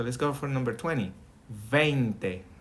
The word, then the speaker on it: veinte: Veinte. More like a vein. Veinte.